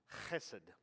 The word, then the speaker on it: hesed: will see c-h because technically in hebrew it's hesed so however you want